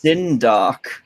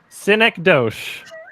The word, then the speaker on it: synecdoche: I actually thought was what is tin doc synecdoche there's a lot of ways to mispronounce it when I yeah yeah